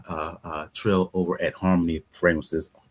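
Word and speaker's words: Xarmony: Shout out to, uh, uh, uh, Trill over at Harmony Fragrances, spelled with an X, but pronounced, uh, with an H, X A R M O N Y, Harmony Perfumes.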